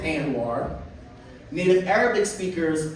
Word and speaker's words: Anwar: to pronounce my name because I pronounce it Anwar native Arabic speakers pronounce it Anwar and here in Baltimore